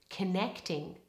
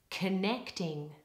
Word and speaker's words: connecting: in the next sentence in the word connecting all of the stress is on the middle syllable and the first vowel becomes the weak Val schwa have a try connecting connecting the dots the